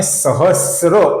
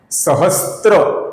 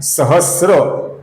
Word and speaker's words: सहस्र: पर हमने देखा था स और र मिलके श्र बनता है। इसका कुछ लोग स्त्र मतलब स त और र ऐसा गलत उच्चारण करते हैं। जो स्त्री का स्त्र होता है उसका उच्चारण कुछ लोग करते हैं। ये उच्चारण गलत है। यहां पर श्र है तो इसका हमें सहस्र ऐसा उच्चारण करना है। सहस्त्र ये गलत उच्चारण है। सहस्र ये सही उच्चारण है दोस्तों।